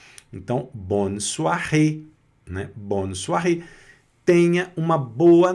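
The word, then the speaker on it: bonsoir: Com acento agudo no e fecha o o a pronúncia. Então bonsoar, né?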